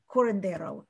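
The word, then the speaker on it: curandero: there is a corridero corondero is how you say it there's somebody who is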